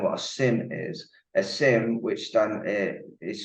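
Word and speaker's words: SIEM: just to explain what a Sim is a Sim which then is spelled s-i-e-m is a security incident and event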